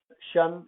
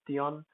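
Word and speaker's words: -tion: Shun, it's pronounced shun, not Tion, comes from French.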